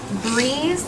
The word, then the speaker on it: breeze: sounding it out, but breeze, the E at the end wouldn't say E. It wouldn't say breezy, so it would just be breeze. That E is silent.